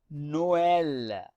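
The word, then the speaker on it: Noël: Now, the trema is nothing but two dots on top of the vowel. When two vowels follow each other, there is only one sound. For example, lean, goat, meat, lie. It's only one syllable or one sound. We do not pronounce both vowels separately. To pronounce both vowels separately, we put the trema over the second vowel. So in this case, it will be pronounced as Noel.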